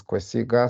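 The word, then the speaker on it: Kwesiga: I will help you it is quesiga so if you've tried it right there you've got it uh Patrick osiga I'm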